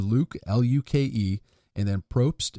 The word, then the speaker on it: Propst: is this pronounced but it's actually pronounced exactly the way it sounds and Speltz the way and it's spelt the way it sounds so it's a Luke lú kè and then Probst it's PR o PS